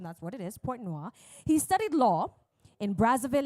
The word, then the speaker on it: Pointe-Noire: He grew up in Pointe-Noire, and I had to check the pronunciation, that's what it is, Pointe-Noire.